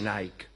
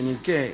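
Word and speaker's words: νίκη: Victoria quiere decir Victoria no se dice Nike se dice ni qué y por eso se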